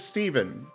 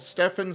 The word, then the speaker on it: Stephen: pronunciation of your name my real life name is Steven spelled with a pH and I have been called Stefan so many goddamn times I do not like